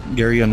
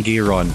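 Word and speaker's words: Geryon: through the other videos our pronunciation of garyun was terrible guy and we kept saying gear on camera yes I said Guerra yes and I went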